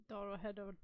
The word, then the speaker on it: Dorohedoro: Dorohedoro.